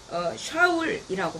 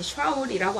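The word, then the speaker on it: שָׁאוּל: 초대 왕이었던 사울의 이름인 원문은 샤울이라고 합니다. 발음이 샤울이라고 하는데 이는 어떠한 요청이나 요구에 의해서 불림받은 자라고 하는 뜻을 담고 있습니다.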